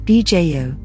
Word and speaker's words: Viseu: Locals pronounce Asim as Ashim, and also Viseu as Bjo, for example.